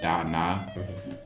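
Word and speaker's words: dāna: Um like they pronounce it differently. um they pronounce it da na and like it's it's in Sanskrit and it's a it's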